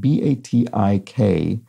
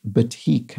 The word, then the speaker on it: batik: thank you for that b-a-t-i-k um is pronounced batik i think i said batik or something like that i was completely wrong anyway it uses wax